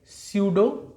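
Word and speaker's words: pseudo: देखो P silent है, हम पढ़ेंगे स्यूडो metameric, स्यूडो metameric segmentation, स्यूडो metameric segmentation, स्यूडो metameric segmentation.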